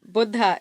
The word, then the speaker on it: Buddha: Buddha is the right way to say it.